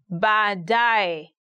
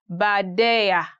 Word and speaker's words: baadaye: He had a very hard time saying baadaye. He used to say baadaya, baadaya, which is quite different. But now he made it up. He's okay. He says baadaye.